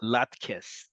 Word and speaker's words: latkes: And that's why you're going to see and hear levivot tapuche adama pronounced in Yiddish in Israel as latkes.